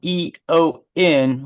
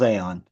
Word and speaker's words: Eon: Aeon spelled E-O-N. You would think it was Eon, but it's not. It's pronounced Aeon.